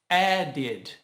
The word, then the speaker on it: added: Se a palavra original terminar com a letra D ou T, por exemplo, start or add, acrescentamos o ed e, neste caso, nós precisamos pronunciar o I do ed, que vai ficar o som de id.